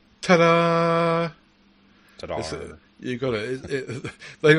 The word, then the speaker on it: Tdarr: I reckon that um you've got to pronounce this Tada Tada you got it